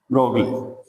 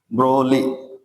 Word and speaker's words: Broglie: ली Louis Louis de ब्रोगली ब्रो ब्रोगली लिखते हैं लेकिन इसको पढ़ते क्या है ब्रोली जी साइलेंट कर लेंगे ठीक है ब्रोली